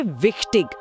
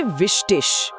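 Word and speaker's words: wichtig: और जरूरी के लिए विक्टिग, उसे बोलेंगे विष्टिश। बिलिश, विष्टिश।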